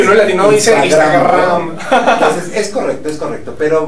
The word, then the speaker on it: Instagram: Igual estoy en Twitter, es @TonyBatres, y en Instagram, igual @TonyBatres. ¿Viste? Así se pronuncia Instagram. Ella se burla de mí, Alejandra, cuando digo Instagram, porque es Instagram.